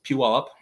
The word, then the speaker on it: Puyallup: It's spelled very differently than it sounds. It's Puyallup.